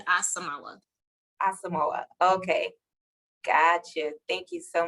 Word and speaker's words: Asamoah: right no problem it is b asamala asamoah okay gotcha thank you so much of course